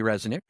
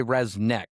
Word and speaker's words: Rzeznik: Well, I say Resnick, but it's spelled like, it's actually really, it's RZEZNIK. But I've always heard people pronounce it like Resnick or something, so I don't know.